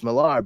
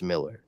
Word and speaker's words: Miller: where he said like it's actually it's Miller it's it's pronounced Miller you know and I'm like cool well if I ever happened to meet him I'll make sure to say Mr Miller and not hey Mr Mila how's it going I don't